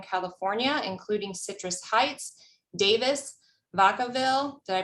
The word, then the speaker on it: Vacaville: Kathy has spent 30 years working for cities in Northern California, including Citrus Heights, Davis, Vacaville. Did I pronounce that right, Kathy?